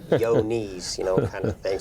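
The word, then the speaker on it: Johne's: we we talk about yoni's but everybody wants to know uh you know how it's spelling it's spelled John with an e on the end of it and somebody say yo knees you know kind of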